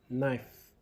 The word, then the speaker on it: knife: Knife, knife with the letter K silent.